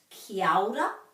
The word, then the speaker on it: kia ora: You will know it from kia ora, which is often pronounced kia ora, joining those two together. You might also know it from kia kaha. So this is kia ora, be well, kia kaha, be strong.